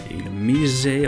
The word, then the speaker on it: Illumise: Also have the two bugs there, Volbeat, Illumise, I believe it's pronounced.